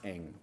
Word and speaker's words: Ng: It's pronounced Ng, but I should have let you do that.